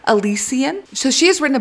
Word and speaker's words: Elysian: she's written her first book and it is pronounced Elysian so she has written a book called the